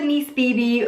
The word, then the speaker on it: Nice BB: you know it is called the niece Bibi but it is spelled nice Phoebe just kind of FYI um but yeah because